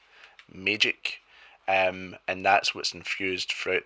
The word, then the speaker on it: Maegyck: It's actually infused with this world's version of magic, which is magic, but it's spelled Maegyck, magic.